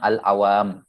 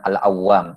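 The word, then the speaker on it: العوام: Lil khawasi Wal awam ini cara bacanya sama khawasi sama alawam jadi yang ditasdid mimnya bukan wunya dikatakan awwamah ini termasuk kesalahan dalam membaca kalau dikatakan alawwam yang benarnya alawam tib sebagaimana cara bacanya alkhawas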